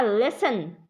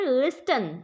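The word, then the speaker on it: listen: Next है आपका लिसन, इसको बच्चे बोलते हैं लिस्टन, लिस्टन नहीं पढ़ते हम, इसको लिसन पढ़ते हैं, इसमें टी जो है वो साइलेंट है, इसका मतलब होता है सुनना, ठीक है।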